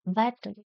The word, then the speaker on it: battle: Ninth one, battle. Here double T is there, even though pronunciation is like a single T is there. Battle.